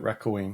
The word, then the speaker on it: Raccoin: Genuinely raccoon, but raccoin.